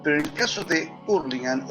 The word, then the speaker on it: Hurlingham: Yo me crié en un lugar en el Gran Buenos Aires que se llama Hurlingham, o se pronuncia Hurlingham, donde hay un barrio